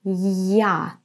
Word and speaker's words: я: So, in the word яблоко, I pronounce it strong, я. To pronounce it like this, you have to say first the sound й, and then а, я, я.